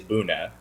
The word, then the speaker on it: Buna: And the word, the English pronunciation of that word is Buna.